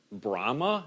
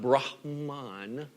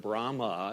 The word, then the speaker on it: Brahma: main gods of Hinduism would be Brahma not Brahm on right but Brahma you just dropped the in off the end B ra h EA